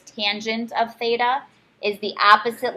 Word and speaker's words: tangent: the hypotenuse is five tangent T a n so don't just say tan it is tangent of theta is the